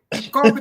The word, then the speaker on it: Coffee: That's how we pronounce it. It's Coffee. Coffee.